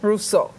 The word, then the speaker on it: Rousseau: Rousseau.